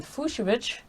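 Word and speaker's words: Fucsovics: lavranka is taking on fushovich pronounced like fuchsia very fun but fuchsia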